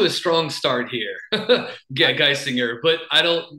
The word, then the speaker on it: Geisinger: Yeah, Geisinger, but I don't mispronunciations are they happen frequently with this name, so I'm good with whatever, honestly.